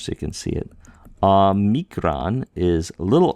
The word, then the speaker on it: omicron: The difference, see, aw, omicron is aw, omega is O.